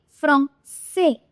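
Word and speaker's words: français: कब ए और आई साथ में आ रहा है तो ये किसकी साउंड निकालेगा, ए की साउंड, फ्रॉम से, फ्रॉम से। आ की जगह ए, देखिए ए और आई दोनों साथ में आ रहे हैं तो क्या साउंड आएगी, ए।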